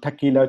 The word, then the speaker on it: Tequila: I'm one of the co-founder of Tequila QV community in Singapore. Yeah, you just heard it right. The pronunciation is same as the famous Mexican drink.